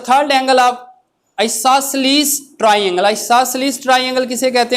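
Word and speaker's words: isosceles: तो यहाँ पे आइसोसेलेस ट्राइंगल में 2 साइड्स इक्वल होती हैं। कोई आइसोसेल्स भी कहता है, मगर डिक्शनरी में इसका प्रोनाउंस क्या है? आइसोसेलेस। आइसोसेलेस क्या है?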